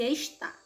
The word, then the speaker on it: está: para aquecer a sílaba tônica da palavra esta é isso certo então ela é paroxítona e a sílaba tônica e da palavra está a sílaba tônica é o tá então ela é oxítona então confira só respostinha